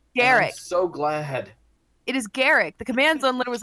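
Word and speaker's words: Garruk: putting this out there it's called it's it's pronounced Garak not guru it's Garrett thank you just your pronunciation if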